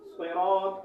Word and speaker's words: صراط: آیت کا صحیح تلفظ صراط الذین انعمت علیہم۔ یہاں صاد میں سین کی آواز یا تا کی آواز نہیں نکالنا چاہیے، یہ غلط ہے، ٹھیک ہے؟ یہاں صاد ہی آپ کو نکالنا ہے، اور اسی طرح یہاں